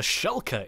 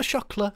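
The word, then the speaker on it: Shulker: feel really silly now the shulka the shulka is what it's called not the Shula the shulka I got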